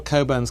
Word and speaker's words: Cockburn: but uh but all coburns carry this Mission through life as your name is spelled cockburn but you pronounce it Coburn um and there are